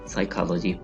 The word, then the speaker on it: psychology: साइकोलॉजी, साइकोलॉजी, नफ्सियात, psychology. P is completely silent here. Psychology. Psychiatry, psychiatry, psychiatry, नफ्सियाती अमराज का इलाज, psychiatry.